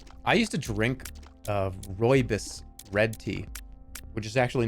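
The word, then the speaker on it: rooibos: cannabis not Roy this no it is roybus it's like Roy yes roybus constipated no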